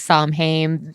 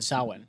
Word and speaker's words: Samhain: a lot of people will call it like samhain just because of that's how the way it's spelled and it's like the american pronunciation but she actually called it saowin yeah she does pronounce it correctly correctly and